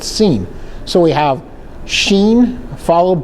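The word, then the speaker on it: שׂין: If it was on the left side, it would be called seen. Not sin, but scene.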